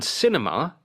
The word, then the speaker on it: cinema: On cinema, it is the first syllable. Cinema.